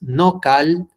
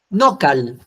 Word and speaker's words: nocal: Nocal. Acuérdate, no pronuncies fuerte al final. No había palabras agudas en náhuatl.